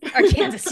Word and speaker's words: Arkansas: Arkansas, yeah. Why is it even pronounced Arkansas when there's an S at the end?